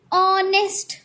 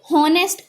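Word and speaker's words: honest: Likewise यहाँ पे ऑनेस्ट, इसको हम लोग क्या पढ़ते हैं, ऑनेस्ट. We pronounce it एज ऑनेस्ट, ना कि हॉनेस्ट.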